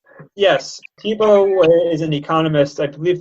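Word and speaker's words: Tiebout: is a tibo sorting is that how to pronounce it correctly yes tibo is an economist I believe the paper was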